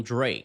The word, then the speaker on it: Drake: Repara que quando ela fala o nome do Drake, o K praticamente some. Ela não força esse som no final.